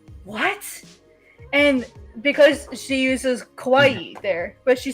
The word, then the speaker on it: kawaii: Kawaii kuruma. Right. Kawaii. Make sure it's two eyes. Kawaii two syllables.